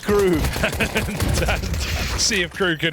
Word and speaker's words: KRÜ: It's pronounced KRÜ.